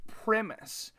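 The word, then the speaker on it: Brent Primus: you are correct seven it's actually pronounced premise Chael Sonnen corrected me here recently I thought that a it is not Chandler Chandler lost his championship to brent premise he had kind of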